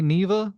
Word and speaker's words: Neva: on to neva so I'm gonna say Neva because that's how the lady in the game that's that's how she pronounces her her baby wolf's name or you know uh